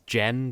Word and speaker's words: Gen: It's Ken, but then that relies on you pronouncing Gen as Jen, because if you take